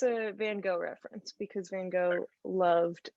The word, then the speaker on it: van Gogh: will correct you and be like oh it's van gaal or whatever and it's like calm down like in america i'm going to say van gogh and if i ever go there i'll say it right but yeah so